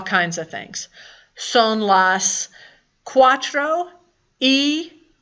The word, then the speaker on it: y: That y by itself is one word and it's pronounced e and it means and.